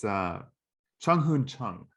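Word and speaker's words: Chung-hoon Chung: Who was I wrote his name down because I didn't want to mispronounce it. It's Chung Hoon Chung.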